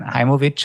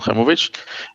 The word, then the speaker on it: Haimovitch: So my name is Movich. It's pretty close especially depends on how you pronounce it in different nationalities but uh today uh